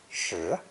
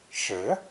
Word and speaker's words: 十: This character is pronounced second tone, shi, shi.